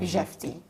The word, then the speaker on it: Jefte: I pronounce it in the French way. You have Jefte.